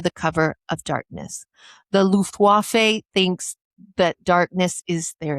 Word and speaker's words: Luftwaffe: The Luftwaffe thinks that darkness is their advantage. I don't think you said that word right. I did. I was throwing you up a softball. Oh, thank you. Luftwaffe. Luftwaffe.